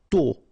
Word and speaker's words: tôt: Tôt. Okay, final T not pronounced, and then this O accent circonflexe is a bit stronger than normally, so tôt, tôt, tôt.